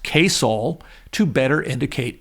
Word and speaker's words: KSOL: When the station was sold in 1964, it changed the call letters to KSOL, pronounced Koul, to better indicate its mission.